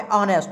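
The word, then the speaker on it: honest: सी इज ऑनेस्ट मैन अब यहां पर देखेंगे यहां पर ऑनेस्ट उच्चारण क्या आता है ऑनेस्ट ओ आया लगाएंगे ए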